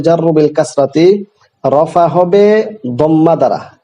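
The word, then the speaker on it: ضمة: রফা হবে দম্মা দ্বারা, এটা জুম্মা না, অনেকে জুম্মা বলে, এটা মারাত্মক চরম একটি ভুল। শব্দটি জুম্মা না, দুম্মাতুন না, দদের মধ্যে বিল ফাতহাতি, ফাতহা দিয়ে হবে দম্মা। তাহলে রফা হবে দম্মা দ্বারা, নসব হবে ফাতহা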